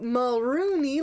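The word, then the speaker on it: Mulroney: So Mulrooney rhymes with loony, and then when we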